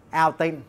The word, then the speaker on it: Outin: Cái thương hiệu của nó là Altin. Thật ra đây là chữ là out và in á. Đó, nhưng mà mình đọc là Altin.